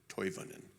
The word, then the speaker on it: Toivonen: It is Toivonen. With Finnish names, you pronounce every vowel.